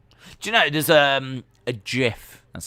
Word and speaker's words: GIF: Do you know, there's a GIF, that's how you pronounce it, of Lily winking.